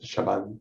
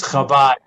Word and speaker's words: Chabad: And then at the intersection with University, they're redoing the, I don't know how to pronounce it, Shabbat Center there. It's Chabad.